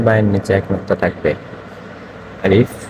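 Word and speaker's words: ألف: আলিফ এটা হচ্ছে আলিফ। আলিফ। আলিফে হালকা হালকা হাওয়া বাইর হবে আলিফ উচ্চারণ করার সময়।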